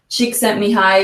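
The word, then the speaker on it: Csikszentmihalyi: the US so is Martin Seligman Chris Peterson chick sent me high which is a really complicated name but I've learned to pronounce it now finally um but uh basically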